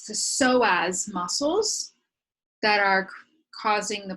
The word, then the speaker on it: psoas: that this it's the so as muscles that are causing the person to contract forward so as is spelled PS OAS PS OAS so as muscles these muscles run